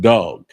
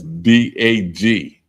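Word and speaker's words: דג: fish and it's pronounced dog. And that's D A G. D A G. That's how you spell it in Hebrew, but it's pronounced dog, not dag.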